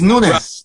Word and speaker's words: Nunes: Lee mentioned, and I thought it was Nunez, but it's not. He told me it's Lee Noons. That's how it's pronounced. And he It's- said, Portuguese. It's Nunes.